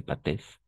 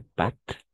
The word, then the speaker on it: pâtes: on ne prononce pas des pâtes pas des pâesses des pâtes d'accord des pâtes et de